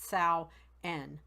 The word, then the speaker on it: Samhain: spelled s am h AI n but it's pronounced Sal N was a the third harvest festival of the